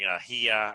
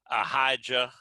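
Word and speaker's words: Ahijah: english word and uh if you look at the hebrew there is no j in there and uh uh so i will be pronouncing ahia rather than a hija or whatever however somebody from texas would pronounce it but in the hebrew it's ahia and uh so he's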